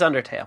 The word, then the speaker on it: Undertale: And for anyone who is somehow legitimately confused by my mispronunciation, it's Undertale. It is Undertale.